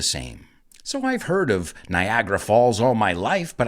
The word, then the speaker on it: Niagara: But we pronounce it Niagara. That's second A. There are 3 A's in the word. The second A is basically silent. Niagara.